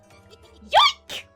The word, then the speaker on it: Yoink: You're not saying it right. It's more like... Yoink!